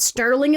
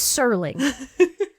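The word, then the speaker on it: Serling: Rod Sterling every person we thought it was Rod Sterling as well we did we really did There's NOA from this yeah there's no tea it's sirling wild unbelievable in the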